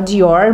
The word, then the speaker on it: Dior: eu me esforço e a gente fala Dior mesmo e é isso aí né ainda com aquela com r de porta Dior tá ó só um